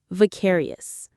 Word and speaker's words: vicarious: Various. Various. The stress is on that second syllable. Care. Just like precarious but with a V.